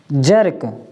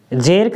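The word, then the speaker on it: jerk: जैसे verb, silver, shirt और जर्क, जेर्क नहीं पढ़ेंगे इसको, जर्क, ठीक है, जर्क।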